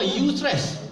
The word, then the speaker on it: eustress: Pertama, eustress. Yang atas tu eustress, sebutan eustress. Kan, ejaan dia eustress macam tu. Pronoun dia ataupun sebutannya eustress. Eustress.